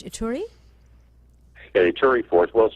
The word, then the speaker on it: Ituri: DRC and only to the, I believe it's pronounced Ituri?